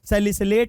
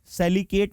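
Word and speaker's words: salicylate: सैलिसिलिक acid से बनने वाला सैलिसिलेट आयन होगा, सैलिकेट नहीं सैलिसिलेट, स्पेलिंग इसकी सही कर लीजिएगा।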